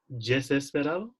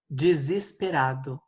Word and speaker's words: desesperado: How do I pronounce desesperado? Desesperado.